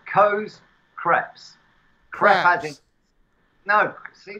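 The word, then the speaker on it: crêpe: Coe's Crepes. French what? Style pancakes. What's it called? The business was called Coe's Crepes. Crepes. As in, no, see, this is the CREPES. Crepe. It's French.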